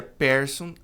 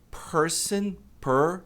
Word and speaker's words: person: Muita gente pronuncia person, é person, esse Ezinho fechado. E tem que pronunciar o N também.